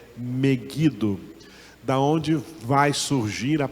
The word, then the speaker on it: Megido: Vale do meguido que Alguns chamam Megido mas a pronúncia correta é meguido da onde vai surgir